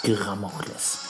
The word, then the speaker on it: Gramokles: Gramokles heißt das. Richtig ausgesprochen heißt das Gramokles. Oder Gramokles, ja.